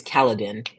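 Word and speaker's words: Kaladin: what's the cat's name um his name is kaladan and that's spelled Ka a l a d i n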